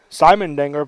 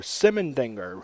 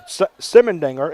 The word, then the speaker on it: Simendinger: coach Jared Webley uh we've been saying Simon danger but raid number 14 is simondinger who apologize to and